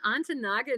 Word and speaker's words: Ontonagon: And I said, "You mean Ontonagon, Michigan?" He said, "So you must know how to pronounce it.